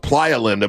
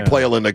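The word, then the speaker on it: Playa Linda: It's supposed to be an pronounced pleinda, but we can say playinda cuz we're we're at anyway beaching took it.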